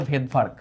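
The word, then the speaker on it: Svedberg: সভেদ ভার্ক আবিষ্কার করছে উনার নাম আসলে ভেদভার্গ ভেদভার্ক উনার নামের আগে একটা সাইলেন্ট এস আছে ও এসটাকে তিনি যুক্ত করে দিছেন। এটার মানেটা হচ্ছে ব্যাকটেরিয়ার রাইবোজোম গুলা একটু সাইজে বড়।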